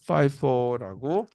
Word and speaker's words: FIFO: 그래서 FIFO라고 발음을 합니다.